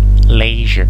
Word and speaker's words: leisure: Leisure. Ça se prononce je.